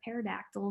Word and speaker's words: pterodactyl: And so my joke for everyone today is, why can't you hear a pterodactyl go to the bathroom? And the answer is because the P is silent.